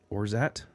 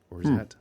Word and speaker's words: orgeat: It's spelled Orgeat. I think it's pronounced orgeat, but it's an almond liqueur, and I mean, it says pronounced Orzat. Yeah, maybe. It says pronounced O-R-Z-H-A-T. Orzat.